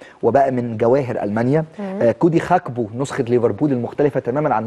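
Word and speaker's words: Gakpo: الحقيقه بيقدم نسخه ممتازه وبالمناسبه فيما يتعلق بنطقه هو دائما بينطق خاك بو وليس جاكبو او جاكبو لان الجيم في الهولنديه بتنطق خاء زي مثلا المدافع الشهير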